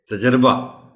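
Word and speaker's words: تجربہ: गलत ही बोलना है हम इस अगर वाहिद है तो हम कहते हैं तजुर्बा और अगर ये जमा है तो फिर हम बोलते हैं तजुर्बात दुरुस्त लाश जो है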